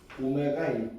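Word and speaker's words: ω: 퍼스트 뭐에 대한 거냐면 x의세제곱 - 1은 0의 한 허근이 오메가일 때라고 씁시다. 요거 W 아니에요. 오메가라고 읽어요.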